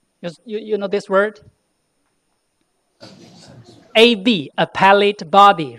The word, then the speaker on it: appellate: In American English, it's read appellate. In English, in British accent, it's read appellate. In Chinglish, it's read appellate. Because this is the third syllable from the last.